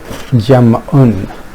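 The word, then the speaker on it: جمع: Jam'un is the right pronunciation if we fully vocalize it.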